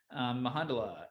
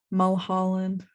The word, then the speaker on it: Mulholland: Mahandala, Emmett Brown, Hector, Jeannie, Mrs. Kwan, and Wednesday. May I correct your pronunciation? Yes. Mulholland.